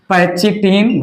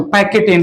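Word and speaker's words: pachytene: यहां से third step लिया मैंने, पैचिटिन, वैसे मैं नहीं बोलता, मैं तो पैकेटिन प्रोनाउंसिएशन करता हूं, पैकेटिन या पैकिनेमा, पैकेटिन या पैकिनेमा।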